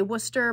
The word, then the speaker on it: Worcester: have War we have we say Worcester but it's spelled War Chester you know Maine there's